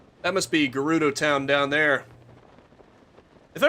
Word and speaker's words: Gerudo: I'm pretty sure it's Gerudo though Gyarados just sounds weird sounds more like that Pokemon the dragon Pokemon that Magikarp evolves into I'm pretty sure it's not meant to be pronounced like that oh a shrine ain't